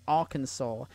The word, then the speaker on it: Arkansas: what kansas not arkans what kansas not our kansas it's arkansas yeah america explain explain nikki